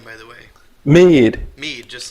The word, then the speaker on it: Meade: Meade. Meade, just like Like me. the Okay. yeah, like the notebook paper.